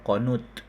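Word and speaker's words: قنوط: ber dan juga berputus dibacanya bukan qunut ya, qonut. Eh, qonut.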